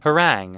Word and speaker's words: harangue: Harangue? How do you say this? Hold on. Harangue.